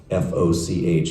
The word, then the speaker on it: Foch: So the French general, F-O-C-H, how would we pronounce that?